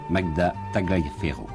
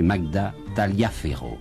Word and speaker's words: Magda Tagliaferro: vous une grande musicienne magda tagliaferro j'ai compris maintenant pourquoi je butais sur le nom il faut et c'est pierre nora qui vient de m'indiquer il faut prononcer magda tagliaferro voilà à demain